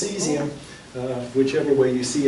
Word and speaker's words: cesium: And it has a British spelling and has a US spelling, but it's pronounced seesium.